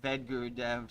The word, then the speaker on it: Vedagurudev: The A is silent, Vedagurudev.